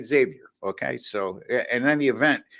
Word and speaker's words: Xavier: Xavier in Villanova I I've been pronouncing it Xavier in a past and there was one of our uh Watchers or subscribers I should say they're corrected me it's Xavier he went there so